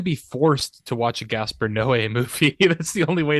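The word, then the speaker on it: Gaspar Noé: going to be watching Gasper no's I think that's how you pronounce his name you're correct Max oh good cuz I need to be forced to watch a Gasper Noe movie that's the only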